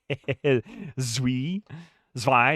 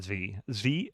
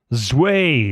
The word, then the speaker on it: zwei: Zwei, excuse me, not Zvi. Zwei, 2. I'm ignorant. I don't know how to pronounce that. Zwei, that's what it is.